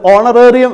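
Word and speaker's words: honorarium: അവർക്കൊക്കെ കൊടുക്കുന്ന ഒരു എമൗണ്ടിന് ഓണറേറിയം എന്നാണ് പറയുക. ലൈബ്രറിയിൽ ഇരിക്കുന്നവർക്കുണ്ട് ഓണറേറിയം ഉണ്ട്, ചില ഉയർന്ന പൊസിഷനിൽ ഇരിക്കുന്നവർക്കുണ്ട് ഓണറേറിയം ഉണ്ട്. അപ്പോൾ ഓണറേറിയത്തിന് നമ്മൾ ഓ എന്നാണ് പ്രൊനൗൺസ് ചെയ്യുക. അപ്പോൾ ഓണർ ഞാൻ എഴുതിയിട്ടില്ല, ഓണർ, HONOUR, HONOUR.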